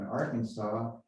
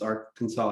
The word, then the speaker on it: Arkansas: come to pass the kansas is pronounced kansas and arkansas isn't pronouncing our kansas what is going on